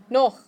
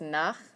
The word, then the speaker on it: noch: So a lot of people mispronounce this one and they think it's nach. Because you've seen nach with an A. You've also seen Nacht with an A and a T. But this one is noch.